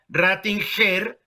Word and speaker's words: Rattinger: ¿Cómo se pronuncia? ¿Rattinger o Rattinger? Mira, porque sería GE, sería Rattinger.